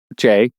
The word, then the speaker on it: Jai: Jay. Are we pronouncing it several different ways? They say Jay in the movie.